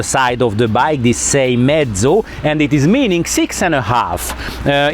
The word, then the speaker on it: Seiemmezzo: Seiemmezzo. Once more, please. Seiemmezzo. So, Seiemmezzo. So this is the newest Moto Morini model, and the name is also written on the side of the bike, this Seiemmezzo, and it is meaning 6.5.